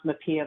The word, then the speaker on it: MHPAEA: we tend to pronounce Mia but reasonable Minds can differ on whether you uh spell it out or pronounce it as an acronym but I'm actually going